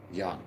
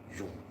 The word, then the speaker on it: Jung: Some people pronounce it as Jan. Okay. Jung.